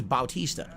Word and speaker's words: Bautista: it differently it's Bautista his name is Bautista you didn't know that he always spelled it Batista when he was in WWE because they changed his name his name was Bautista that's how you pronounce it anyway um so yeah